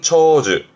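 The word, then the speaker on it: 長寿: 발음은 초즈.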